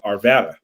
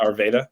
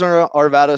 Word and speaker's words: Arvada: It was such a cool location and great access to downtown because it's in Arvada. Not Arvada. Yeah. Some people still call me out for the pronunciation, but yeah, it is Arvada, so you can kind